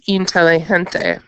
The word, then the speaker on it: inteligente: In Spanish, we want to avoid that double L because that would make it say ya instead of la. And so the pronunciation would change. It's inteligente. So you want to have one L, not like the English version.